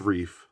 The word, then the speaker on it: Reiff: It's pronounced reef, like a coral reef kind of thing.